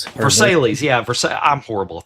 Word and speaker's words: Versailles: cabal live on the vers how do you pronounce that? Versatil vers Verselles. Versailles.